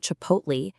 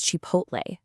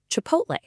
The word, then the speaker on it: Chipotle: It comes from Spanish, so it's not Chipotle, it's Chipotle. Say it with me. Chipotle.